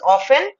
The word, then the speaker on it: often: Now understand this, the pronunciation is often and not often.